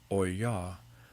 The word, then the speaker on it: olla: An olla, pronounced oy-yah, is an unglazed terracotta vessel with a narrow neck and a rounded body.